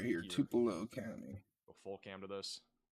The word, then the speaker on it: Tupelo: How do I pronounce Tulo in Mississippi? It's over here. pronounced Tupelo. Tupelo.